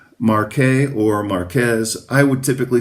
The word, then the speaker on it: Marqués: Uh, the Spanish pronunciation would be Marquez.